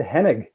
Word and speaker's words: Henig: actually said that right you did pretty good man most people screw it up you did it well well how is it did i say it dead on or you i think you did hennig yeah headache all right how